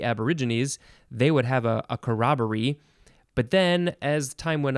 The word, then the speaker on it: corroboree: bunch of them and they all had uh pronunciation and information too so it was a big section next word is karakoroburi corroboree or corroboree c-o-r-r-o-b-o-r-e-e i did i miss a letter o-r-e-e